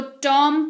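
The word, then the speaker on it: tomb: फिर हमारे पास toom10 बीबॉम नहीं पढेंगे इसको टॉम पड़ते हैं टी ओ एम बी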